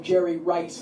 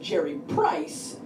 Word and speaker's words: Jerry Rice: correcting me sports fans not so much I mispronounced name Jerry Rice once said Jerry price and that became my nickname forever right it